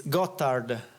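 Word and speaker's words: Gotthard: rock right how do you how do you pronounce because I hear it's got hard yeah yeah it's gottard it's the name of the mountain that separates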